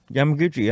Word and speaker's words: Yamaguchi: no she is not Yamaguchi Yamaguchi I know I know how to say it right don't call her Gucci then I know how to say it wrong yeah he's not Italian she's Japanese I'll call her Christy all